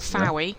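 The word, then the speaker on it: Fowey: Her ashes are actually scattered at Foy, or Fowie, depending on how you want to pronounce it, but it's Foy.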